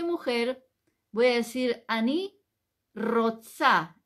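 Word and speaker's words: רוצה: si yo soy mujer voy a decir aní Rosa r o t s a roxa o z no importa a mí Rosa la a es femenino y si soy hombre voy a decir Annie roxé en vez de a va a terminar con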